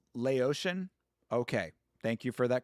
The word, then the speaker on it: Laotian: It's pronounced Laotian.